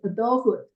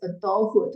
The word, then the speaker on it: adulthood: that will carry into adulthood uh people can pronounce this word as adulthood or adulthood either way it's good all right at